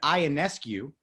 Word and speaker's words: Ionescu: And it is Ionescu.